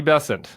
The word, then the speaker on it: Bessent: of all it's it's bessent rhymes with crescent oh really yeah what did I say bessent bent not Not Bent bessent Scotty bessent there you go um